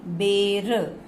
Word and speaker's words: बैर: अगर एक मात्रा है तो साउंड होती है ए, बेर। वहीं पे ही अगर हमने दो मात्राएं लगा दी तो साउंड बन गई ए, बैर। बेर बैर, बेर बैर, साउंड समझिए, उच्चारण में बहुत डिफरेंस है।